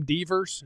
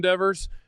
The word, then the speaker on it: Devers: Devers? Is it Devers? Oh, Devers? Devers? Yeah, Devers.